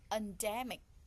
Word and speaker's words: endemic: Endemic, endemic, the first, the second, or the third? The second.